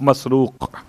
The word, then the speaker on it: مسروق: والد کا نام ہے مسروق، تین تلفظ ہیں الگ الگ الفاظ کے اعتبار سے، مرزوق، مسرور اور مسروق، میم سین رے واو قاف، مسروق۔ اس کا ترجمہ بڑا